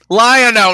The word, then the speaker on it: Lion-O: says Goldblum as Wolverine lion-o not leo now correct me about